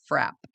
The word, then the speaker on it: frappe: in Massachusetts, they call those milkshakes, and it is pronounced frap.